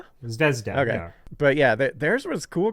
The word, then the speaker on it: Zvezda: Uh how do you pronounce that? Zvezda. Zvezda.